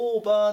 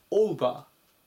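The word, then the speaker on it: over: をつけてください 211 番オーバオーバ発音に注意しましょうオーバーていう風にこう伸ばさないでオバーという風にうを入れて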